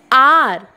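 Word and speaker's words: hour: Here R, H is silent and we are saying R. Okay, it is O. We are pronouncing the word, the letter O. O-U-R-R. Here H is silent. That's why we are saying an R.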